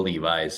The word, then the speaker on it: Levis: Like, I don't know, you got to change the guy today, but like that's how you pronounce his name. Levi's.